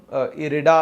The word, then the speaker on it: IREDA: है आय आर ईडी ए सो ही एक रेडा अस पण काही जण याचा प्रोनाउंस करते सरकारी कंपनी है रिन्यूएबल